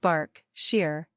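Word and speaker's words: Berkshire: buckinghamshire Essex herfordshire pronounced har fud Shear Burkshire pronounced bark Shear Hampshire Kent Su East Sussex and West Sussex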